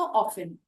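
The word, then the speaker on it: often: या ऑफन, FT साथ में प्रोनाउंस करना मुश्किल है, तो ऑफन।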